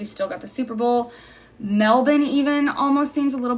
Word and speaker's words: Melbourne: Ty's here hi Ty I don't even know where I heard melbour um I think on a podcast but it seems very important to the people there that we say it properly so I always try it's melbour everyone say hi to